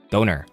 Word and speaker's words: döner: How do you pronounce it the English way? Doner. A doner. Doner? Like boner, right?